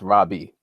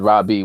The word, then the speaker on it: rabbi: title okay the term rabbi is just it's a Hebraic term which properly is pronounced Rabi you know and it